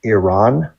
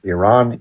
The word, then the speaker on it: Iran: about in America, but the proper pronunciation for the two countries in the region is Iran, like your ear and a friend named Ron, and Iraq, like ear.